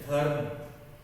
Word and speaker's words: धर्म: इसका उच्चारण उस वर्ण से पहले किया जाता है, ऊपर लगता है, इस कारण ध के बाद में र का उच्चारण और फिर म, धर्म।